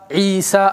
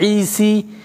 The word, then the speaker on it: عيسى: no dots But that is an alif. Even the pronunciation Musa, it's not Musi, it's not Isi, it's not Mustashfi, It is Mustashfa Isa Musa.